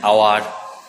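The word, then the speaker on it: hour: আর একটা আছে, কিছু কিছু শব্দ আছে যেগুলো এইচ দিয়ে শুরু হয় কিন্তু উচ্চারণটা হয় অ বা আয়ের মতো, তাদের আগে অ্যান বসে।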